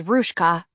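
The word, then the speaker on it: Ruzka: Ruska Korchuk, pronounced in English as Ruska, a leader of the young guard in Vilna's fighting organization and a partisan leader in the forests.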